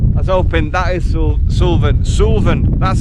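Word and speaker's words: Suilven: I was hoping, that is Sulven, that's how you pronounce it.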